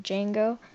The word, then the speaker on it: Django: but it's actually pronounced Django. The D is silent, it's just like that.